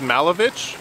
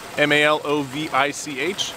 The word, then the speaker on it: Malovich: The pronunciation of my name is Malovich, M-A-L-O-V-I-C-H. So it's like Malo, so it's Malovich, sort of like that, okay?